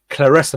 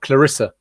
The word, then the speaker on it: Claressa: And it's interesting to know her name is pronounced as Claressa, not Clarissa, I think.